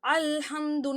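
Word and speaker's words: الحمد: அப்போ ஹம்சாவோட உச்சரிப்பு தான் கொடுக்கணும். அலிஃபுக்கும் ஹம்சாவுக்கும் ஒரே உச்சரிப்பு தான். நம்ம வந்து தொண்டையோட நடுப்பகுதியிலேருந்து எடுப்போம், ஆனால் மெல்லியதாக அந்த சவுண்டு வரும், சரிங்களா. அல்ஹம்து ஐன் சவுண்டு வராது. அல்ஹம்துன்னு சொல்லக்கூடாது. அல்ஹம்து அதே அந்த மாதிரி சவுண்டு. ஸோ அப்போ அலிஃப் வந்து வார்த்தையோட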